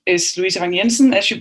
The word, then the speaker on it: Louise Vang Jensen: really really appreciate it um my name is luisa vanyensen as you pronounced very very properly marcus i am an